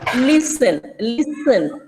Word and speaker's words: listen: and some words like silent words like listen, t is silent there.